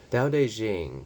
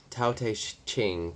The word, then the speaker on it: Tao Te Ching: Tao Te Ching, pronounced Tao Te Ching, pronounced more or less Tao Te Ching, can